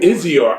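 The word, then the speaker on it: I'Zior: Dan spells it right, and I hope I pronounce it right. Izior Moon. What is it? Izior? Izior.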